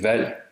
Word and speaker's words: valg: G is also soft at the end of words and between voiced sounds in a syllable coda. That means its place of articulation opens up and it changes from a stop to an approximant. It's almost silent or silent.